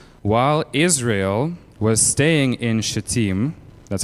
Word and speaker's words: Shittim: While Israel was staying in Shittim, that's how you pronounce that word, the men began to indulge